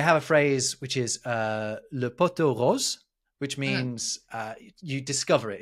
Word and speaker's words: le pot aux roses: But a lot of the time it gets misheard or missaid as le poteau rose, and that means the pink pole instead.